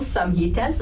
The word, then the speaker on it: samhitas: And it's set out in 12 samhitas, or which are called books.